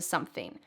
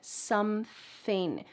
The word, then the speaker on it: something: I'm always listening to something. Notice the pronunciation here of something. You need that th with your tongue out of your mouth.